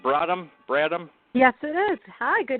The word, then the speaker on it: Bradham: Is that the right pronunciation? Bradham?